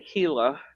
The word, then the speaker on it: Gila: Up in the Gila and it's spelled Gila. Give don't ask me why. I don't know. And it's called the Hila uh forest is one